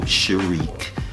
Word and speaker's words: Sharik: name um that they gave me is sharq and my honorable last name is is spelled love ala King equality I master and